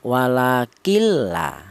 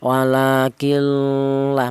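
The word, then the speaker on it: ولكن لا: Jadi cara bacanya walakilla ya, tidak ada dengungnya. Langsung nunnya masuk ke huruf lam tanpa ada suara berdengung ya. Kalau dengung malah salah, seperti contoh walakillah malah salah ya.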